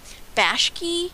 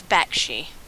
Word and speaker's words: Bakshi: mispronouncing uh famous names i said bashki and i think it's bakshi but ralph is easy